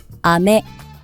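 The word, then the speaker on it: 飴: 여러분들에게 알려 드리려고 해요 먼저 자 비 하늘에서 내리는 비와 그리고 사탕 먹는 사탕 이게 같은 단어를 쓰는데요 액센트 위치가 달라요 혹시 여러분 어느 쪽이 비인지 어느 쪽이 사인지 한번 들어 보세요 아메 아메 아메 아메네 먼저 아메가 하늘에서 내리는 비고 아메는 먹는 사탕에 자 마찬가지로 다음 단어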